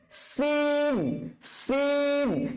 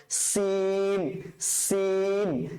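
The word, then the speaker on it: سين: তারপরে স্যার হচ্ছে সিন সিন। সিনটা যখন উচ্চারণ করবে তখন আপনার মুখ ভর্তি আওয়াজ হবে। সরি সরি, সিনটা উচ্চারণ করার সময় আপনার টায়ার পাঞ্চারের মতন আওয়াজ হবে।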